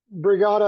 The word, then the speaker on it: Brigada: that they would receive brigada of course is spelled b-r-i-g-a-d-a kind of rhymes with the word Regatta like a race on a river uh brigada it's a